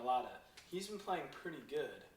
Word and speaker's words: Mailata: Mailata.